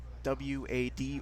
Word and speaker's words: WAD: both half-life doom use it's a uh w-a-d or a uh wad system as it's pronounced well what wads are